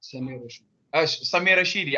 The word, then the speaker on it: Samir Rashidi: Also, we saw that Rashid, let me say it correctly. Yeah, well, Rashid, you're online now. Samir Rashidi. I said it the wrong way around.